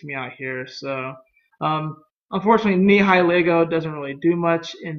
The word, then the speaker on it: Nihilego: Nihiligo? I hope I said that right. Nihilego. Nihilego. That's what I'm going to say. I know I did not say it right, but Nihi and then Lego. Like Lego my ego, Anyways, I get burned.